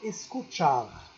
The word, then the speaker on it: escucha: à sa secret escaut chars mais ça se prononce en espagnol escucha sait écouter diot les scouts chaud pour le